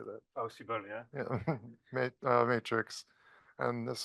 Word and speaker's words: PowSyBl: PowSyBl, yeah.